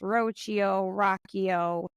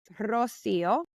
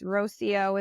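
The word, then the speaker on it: Rocío: just not my name my name is Rosio uh but understanding and being lenient with those who can't pronounce it with the accent it's Rosio is fine uh that being said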